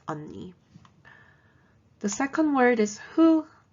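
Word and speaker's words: 언니: there's another word for older sister and it's unni the second word is who and it's pronounced and the last word is age it's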